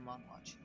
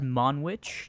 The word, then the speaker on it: Monwich: We shall go to Monwatch. But it's in a straight line. Well, you don't have to go to a straight line. It's pronounced Monwich, just letting you know.